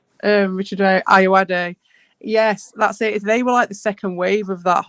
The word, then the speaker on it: Ayoade: Richard Ayoade.